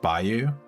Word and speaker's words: bayou: Bayou is pronounced Bayou.